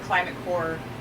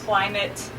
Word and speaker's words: Climate Corps: So that's climate-corps, the P is silent, .org, and look at our amazing fellowship and see what our fellows have accomplished in our 7 years of running.